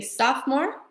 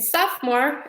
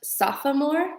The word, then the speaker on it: sophomore: You could also say, "I am a freshman," "I am a sophomore," "I am a junior," or "I am a senior." Okay? In sophomore, it looks like it would be pronounced sophomore, but it is sophomore.